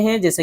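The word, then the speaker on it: whose: उसके अलावा भी कुछ मिसालें हैं जैसे कि देख सकते हैं हु, होम, हुज, होल, answer, सोड, इन सब में भी डब्ल्यू है लेकिन डब्ल्यू को नहीं पढ़ रहे हैं।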